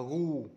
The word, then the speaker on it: goose: Và cái chữ cách mẹo nhớ cái đọc con ngỗng này, goose. Đó là go này này, đọc là gu.